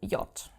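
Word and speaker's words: Jot: Then we have the letter J which is called yacht. Okay, as you can already see from its name in German, it is not pronounced like the English J. There is no J sound. It is more like an I in English. Y.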